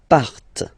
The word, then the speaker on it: partent: And the last persons, il, elle, partent. Remember, classic ending, ENT, but then you don't pronounce them, partent, partent, okay?